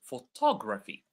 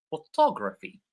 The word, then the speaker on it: photography: So photograph photography right. So even the stress falls on different words.